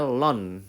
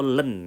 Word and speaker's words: ln: Itu bacanya lon atau len, ya.